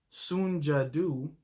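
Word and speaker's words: Soon Ja Du: the korean store owner soon jadoo i believe the name is pronounced took a gun pointed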